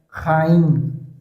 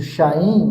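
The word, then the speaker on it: חיים: No item três, ele vai falar que o termo hebraico paraa vida é raim. Aqui tá escrito shaim, mas se vai se falar, se pronuncia raim.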